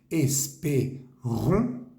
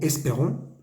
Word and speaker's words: espérons: Es la E, ahí suena como una E en español, porque está la S que nos ayuda a pronunciar la E. Es P, la E, ahí tiene un acento, suena también como una E. Esperons, la ON es una vocal nasal.